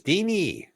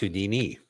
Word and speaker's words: Houdini: He goes, "Deini, right? Who is it?" No. Houdini. Houdini. Who is it? It is, but it's Houdini. It's pronounced Houdini.